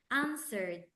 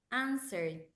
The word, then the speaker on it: answered: here the T sound answered aned like this answered answered the W the W is silent the w we don't have to pronounce the W answered answered answered and